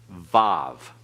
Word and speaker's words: vav: Zion and remember that the wow can also be called VAV okay put a v on each end of it that's the modern Hebrew pronunciation that's not classical Hebrew pronunciation there's many reasons we